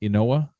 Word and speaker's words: Inoue: That's how you say his name, Inoue.